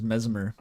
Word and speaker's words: Messmer: I keep wanting to say memer. It's probably just memer. I've got elder ring brain rot. The normal way to pronounce this word is messmer.